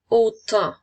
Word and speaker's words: autant: Alors, autant à la lettre T qui est une lettre muette à la fin.